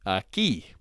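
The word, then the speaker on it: aquí: not quay and then using q-u-i we'll say aki which means here again that's not a qui but a ki and the u is silent alright so that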